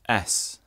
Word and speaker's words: As: our names and finally a flat in German is pronounced s so that's often used